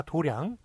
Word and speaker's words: 도량: 이렇게 같은 장자 원래 장자 발음이 맞는 것이죠. 그런데 이렇게 그 불도를 닦는 절 같은 곳죠. 사찰 이런 데를 도량이라고 그러죠. 도량. 그래서 그때는 도장이라고 그러지 않고 도량만 맞게 한다는 것.